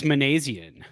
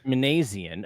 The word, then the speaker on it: Minasian: the Giants uh signed Zach Manan is that is that how they're pronouncing it uh I believe it's manian manian okay I've seen him